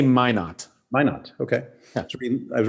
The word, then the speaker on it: Minot: Yeah, and I was reading the piece on, it's Minot, is that how you pronounce this town? They actually say Minot.